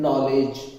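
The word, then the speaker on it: know: के के बाद एन ए जाएगा तो के साइलेंट है नॉलेज है ना नो नॉट नॉट अब जो टाइल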